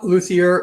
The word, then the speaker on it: luthier: you are a a luthier correct i am pronouncing that correctly yeah luthier which is a builder of string instruments well